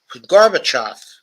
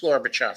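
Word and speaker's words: Gorbachev: look um um um say garbage but says uh the garbage now just say o off now say them together with the an accent on the off uh garbage off you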